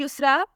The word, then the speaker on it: Yusra: अगला नाम है युसरा, स्पेलिंग है YUSRA।